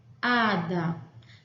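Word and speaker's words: hada: E este HA é a sílaba tônica da palavra. Ada.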